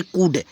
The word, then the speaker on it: could: COULD है तो इसको कूल्ड नहीं, कुछ बच्चे इसको बोलते हैं कूल्ड, बट वो कूल्ड गलत होगा फ्रेंड्स, इसको पढ़ेंगे कूड, ठीक है, यल साइलेंट हो गया, ठीक है।